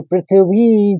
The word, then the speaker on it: पृथ्वी: पृथ्वी क्योंकि ऐ का उच्चारण है तो पृथ्वी कहेंगे तो पृथ्वी चैव ये तीसरा चरण खत्म हुआ।